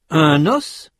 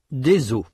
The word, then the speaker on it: os: Notez que dans ces mots, la consonne finale ou semi-voyelle final dans le cas de œil prononcé au singulier n'est pas prononcé au pluriel.